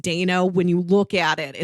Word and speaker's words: Dano: directed by and or starring Adan uh Paul Dano is also In There Will Be Blood and swiss army man and even though I know his name is pronounced Dana when you look at it it looks like